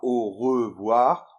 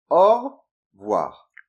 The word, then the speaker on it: au revoir: Et pour la prononciation, en général, on ne dit pas au revoir, on dit plutôt au revoir.